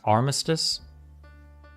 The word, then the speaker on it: Armistice: territory here they got It's pronounced Armistice Armistice not armis sorry Armistice and had